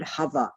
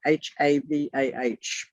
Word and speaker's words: Havah: But did you know that the word Eve is the word Havah, H-A-V-A-H? Bearing in mind there are no vowels. H-A-V-A-H, write that down, please.